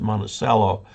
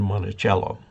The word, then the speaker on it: Monticello: utah monticello is utah i think it's pronounced monticello rather than monticello okay jed petrovic thanks